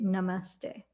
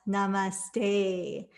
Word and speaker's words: namaste: and with my teachers we say namaste and it's not namaste like namaste and then rhymed with for those puns traditionally it's said at